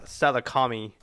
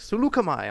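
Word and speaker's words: Saleucami: a salukimai because it's it's spelled like uh salakami but after watching clone wars they're like sulukamai i'm like oh that's a cool name i like that one planet salami dude yeah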